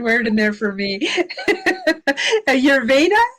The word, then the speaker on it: Ayurveda: Ayurveda, is that how you pronounce it? Ayurveda, exactly.